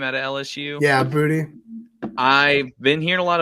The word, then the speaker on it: Boutte: Yeah, Booty.